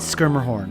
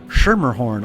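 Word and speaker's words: Schermerhorn: place we want to go is a Hoyt skirmer horn and I recently I only recently learned that it's pronounced skirmerhorn I've been calling it shermerhorn all my life and here we go I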